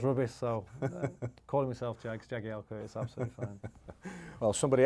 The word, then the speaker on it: Jagielka: Obviously, it's pronounced Jagielka when I have to do something into camera, and they ask me my name.